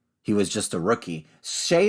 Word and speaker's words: Skjei: Shea is obviously pronounced Skjey. Is that right? Skjei. Yeah. Jei. Sorry.